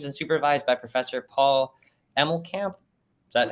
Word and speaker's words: Emmelkamp: He was originally trained and supervised by Professor Paul Emmelkamp. Is that how you pronounce it?